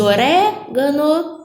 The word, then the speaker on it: orégano: penúltima paroxítonas antepenúltima proparoxítona é o caso de orégano maps orégano é uma proparoxítona e por isso essa